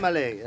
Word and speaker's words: Elmaleh: Elmaleh. I asked him how to say it. Elmaleh. Elmaleh. Yeah. That's what I told him. He said Elmaleh. I said Elmaleh. Yeah, there's a whole debate about my name, right?